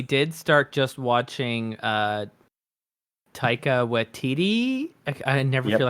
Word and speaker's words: Waititi: We did start just watching Taika Waititi. I never Yep. feel like I'm getting his last name correctly. No, you're pronouncing it correctly.